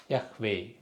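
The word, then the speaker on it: יהוה: இது இந்த ஹே என்ற சொல் வார்த்தையின் கடைசியில் வந்தால் உச்சரிக்கப்பட மாட்டாது. கடைசியில் வந்து உச்சரிக்க மாட்டாங்க. ஆனால் இருக்கும் அந்த வார்த்தை, சைலண்ட் லெட்டர். அது மாதிரி யஹோவா.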